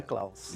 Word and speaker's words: Jungklaus: é alemão action um caos essa é a pronúncia tinham klaus de um caos num só não falou hoje